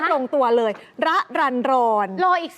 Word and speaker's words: รรรรรร: ให้ ฟัง เลย ว่า รอ เรือ 6 ตัว แบบ เนี้ย อ่าน ว่า น้อง ระรันรอน อ๋อ ระรันรอน ชื่อ ดี